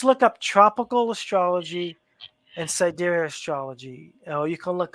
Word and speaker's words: sidereal: Sidereal is with the stars. Tropical is with the seasons. So, I was saying it wrong. yeah. I think I said side reel because Sidereal.